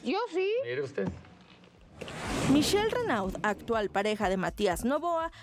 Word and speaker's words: Renaud: Bueno, tenemos entrevista con Michelle Renaud, ¿se pronuncia? Michelle Renaud. Sí. Renaud.